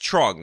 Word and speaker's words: Truong: various local news segments it is in fact pronounced trong which means that this local news lady made